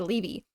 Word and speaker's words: Leevy: So I went back and I found the audiobook and I went to the chapter and she does say Levy.